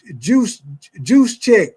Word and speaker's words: Gesicki: You say Gesicki is actually pronounced juice check.